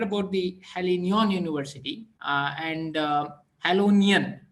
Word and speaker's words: Jagiellonian: You know, the pronunciation is slightly hard, but I read about I read about the Jagiellonian University and Jagiellonian, right? Jagiellonian. Yeah. Jagiellonian, yes, exactly, Jagiellonian.